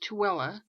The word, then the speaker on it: Tooele: 2 burned in Tooele, this is pronounced Tooele, titanium plant explosion.